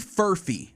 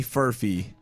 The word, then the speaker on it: Furphy: F-U-R-P-H-Y. Oh, it's like Murphy.